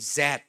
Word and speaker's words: Z: The classic generation I call below me are the generation X Y and Zed. Zed is a British pronunciation. You are American pronunciation is Z.